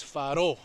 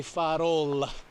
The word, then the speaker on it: farol: again is lighthouse so brazilian portuguese we don't really pronounce the l at the end it's faro goes out into an o if we were from portugal we would say farol we would pronounce that